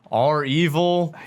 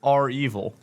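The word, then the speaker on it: REvil: name of this game so it's spelled capital r capital e v i l so i'm thinking are evil i don't think they're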